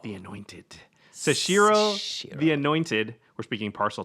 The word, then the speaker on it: Seshiro: But this one is Seshiro, the Anointed. Seshiro, the Anointed.